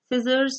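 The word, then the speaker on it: scissors: So scene, scented, sceptre and सिजर्स में आई ई वाई की मौजूदगी जब होती है एस सी अल्फाबेट के साथ तो सी वुड बी silent.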